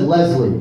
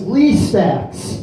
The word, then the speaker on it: Lee Stacks: You said Leslie, but it's Lee. He gets very upset. I'm illiterate. Sorry. No, that's okay. No, I think it's written Leslie on there because I wrote it, so you'd say it wrong. And it's Lee Stacks, because I wanted to correct you.